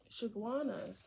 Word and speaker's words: Chaguanas: How do you pronounce it? Chaguanas.